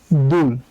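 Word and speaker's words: 둘: হচ্ছে দুল ঠিক আছে তো দুল এখানে আছে হচ্ছে দ্বিগু দ্বিগুতের জন্য আমরা নিলাম দ আর দ্বিগুতের নিচে আছে উরবর্ণ আছে উ এর জন্য নিলাম একটা বসু আর নিচে আছে হচ্ছে ঋউন আর ঋউন নিচে বসলে হবে ল তাই উচ্চারণ হবে দুল ঠিক আছে আর এই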